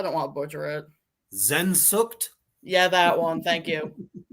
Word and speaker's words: Sehnsucht: How do I pronounce it, Reaper? I don't want to butcher it. Sehnsucht?